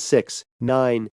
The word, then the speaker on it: 6ix9ine: may 8 1996 known professionally as 69 stylized 6 9 and pronounced 6 9 and formerly as tekashi 69